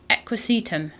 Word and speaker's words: Equisetum: tree that is Equis equisetum I'm going to say that is how it's pronounced but we do need